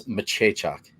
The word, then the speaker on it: Maciejczak: Also, Honky, it's Maciejczak is how you say his name.